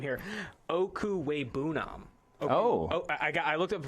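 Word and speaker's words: Okwuegbunam: That's what they call him on campus, but I'm going to go ahead and pronounce this name here. Okuwebunam. I looked up the pronunciation right before here, but Okuwebunam, Albert Okuwebunam, number 5 tight end on the board.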